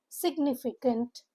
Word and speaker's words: significant: Four syllable word stresses on the second syllable. Nif pronunciation guide is significant c to k sound.